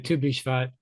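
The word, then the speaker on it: Tu BiShvat: You pronounced it right, Tubishvat.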